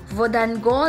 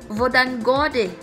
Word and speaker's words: Hvordan går: Kasi yung how you pronounce it, those words sobrang magkaiba kung isusulat mo siya. Kasi di ba, pakinggan mo. Vodan gode. O, di ba? Dapat yung vodan, dapat ang spelling nun ay B-O-D-A-N lang, di ba?